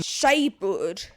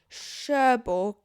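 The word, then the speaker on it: Cherbourg: By the time the liner stops at Sheborg in Queen Shaird Shaird. What is Shabbird? It's Sherborg.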